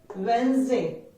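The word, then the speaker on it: Wednesday: Very commonly मिसप्रोनाउंस्ड word वेडनेसडे, नॉट वेडनेसडे. वेडनेसडे नहीं है, spelling वेडनेसडे है, बट we pronounce it एज वेडनेसडे. वेडनेसडे, WENZ, वेडनेसडे.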